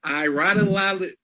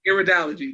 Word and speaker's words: Iridology: I'm not going to butcher that, but Iradology, help me out, Celine. But yes, that analysis, it can help you with personal wellness. Ma'am, how you say it? Iridology. Iridology, there you go.